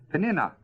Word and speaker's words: Peninnah: No, it's got a It's a short umlaut over the i in my Bible, so it isn't long. See, Peninnah.